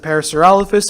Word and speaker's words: Parasaurolophus: people who pronounced it Parasaurolophus and people who pronounced it the wrong way see you though latter